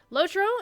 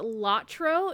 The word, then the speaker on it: LOTRO: and DDO for that lotro is you may also hear it referred to it was lot TRO generally the European cruise but pronounce it that way or such as our